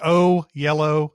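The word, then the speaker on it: Oyelowo: yeah oh yellow yeah it's it's o yellow and oh okay yellow uh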